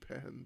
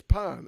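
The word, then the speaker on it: paan: sits on a throne we do not chew pen by the way i'm so sorry i i have offended it well it's pan it's spelt palm so krishna has these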